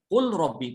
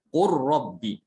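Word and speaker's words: قل رب: Tidak ada yang membaca idhar, tidak ada yang membacanya qul rabbi, tidak ada ya. Semua dibaca idgham. Qur rabbi.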